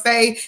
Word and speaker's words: fae: Now, I know there was a short description because they really didn't have a big description of fae, except for the fact that fays are not fairies.